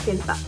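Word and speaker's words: 健太: Kenta itu kanjinya kenko no ken to futoru no futo no kanji desu. Jadi dibacanya Kenta.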